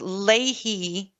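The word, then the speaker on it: Leahy: I think correct pronunciation is ley law.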